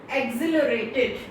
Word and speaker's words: exhilarated: If you can see at the board, it's written word of the day, exhilarated. See children, exhilarated. The spelling is EXHILARATED. Exhilarated. But here H is silent.